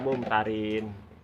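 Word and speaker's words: الممترين: Ya, karena ini biasanya anggar dawa neng tulisan bahasa Indonesia biasanya ditulisnya double. Ya, padahal bacanya wala takum minal mumtarin.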